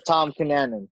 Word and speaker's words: Tom Cunanan: I call him Tim, I call him Tom. It's Tom Cunanan.